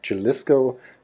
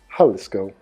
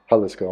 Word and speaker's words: Jalisco: They say I'm pronouncing it Jalisco when it should be pronounced Jalisco.